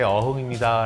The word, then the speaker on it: 어흥: 그래서 저도 제 이름을 얘기할 때 호랑이 어흥할 때 어흥입니다 라고 얘기를 해요. 안 그러면 뭐 어홍, 어흥 뭐 여러 가지가 나와서 지금 태국에 이제 저희 웹툰을 연재할 때 작가 소개를 할 때는 해요.